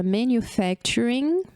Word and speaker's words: manufacturing: Olha só, eu coloquei a palavra manufacturing e coloquei pontos para que vocês vejam a separação silábica da palavra. Olha só, manufacturing. Quantas sílabas a gente tem aqui, ó? Manufacturing. 5 syllables.